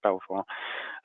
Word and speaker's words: Belvoir: They're nothing to do with us, and we pronounce the business, so we pronounce it Belvoir, much to the distress of the Duke of Rutland many years ago.